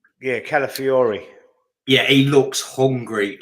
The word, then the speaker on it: Calafiori: Yeah, Calafiori.